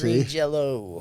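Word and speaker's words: Green Jellÿ: Well, it's spelled like green jelly, but it's got the 2 dots over the Y, which in some foreign country sounds like an O. So it's still I see. Green Jello.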